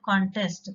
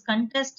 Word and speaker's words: contest: You give a stress in the second syllable and you give a stress in the first syllable in the second case.